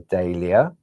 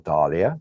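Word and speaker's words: dahlia: you've got your Snowdrop your daia or Dalia depends how you wish to pronounce it the Japonica then moving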